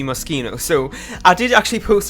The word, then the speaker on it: Moschino: guess mosquito videos that I keep pronounce it as machine I was that's what I've always counted as and but now see that it's actually mosquito so I did actually